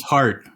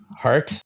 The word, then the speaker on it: Hart: But yeah, you in terms of the company's pronounced Jart, right? I don't know what else it said. It's heart. Hart. It is Spanish after all, right?